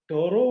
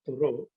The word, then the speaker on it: Thoreau: a metaphysical kind of transcendental philosophy even though toro was thorough actually it's pronounced malayalam people write a story but uh i i think it's a french word so it has to be pronounced with thoreau so thoreau when he went to live in